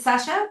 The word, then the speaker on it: Sasha: So now we're going to do that exercise of saying, Sasha, is it Sasha? Am I saying it right? Yeah, yeah. Awesome.